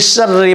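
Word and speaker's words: شَرِّ: আবার বলুন, কুল আউযু বিরাব্বিল ফালাক মিন শাররি মা খলাক, মিন শাররি মা খলাক। এই যে শাররি, শিনের উচ্চারণটা সুন্দর করে উচ্চারণ সহি করে করতে হবে।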